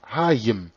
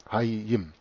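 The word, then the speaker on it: Hayyim: Dass Hia bei der Übernahme ins Griechische auch Haya ausgesprochen wurde, wird bewiesen durch das Substantiv Hiim, Leben, Hayim ausgesprochen, also H-A-Y-Y-I-M, Hayim.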